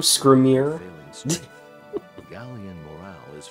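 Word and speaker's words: Skrimir: and W that's how you say his name scrier failing strength gallan morale is further improved by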